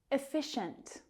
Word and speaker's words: efficient: Efficient. Efficient. Second syllable is stressed.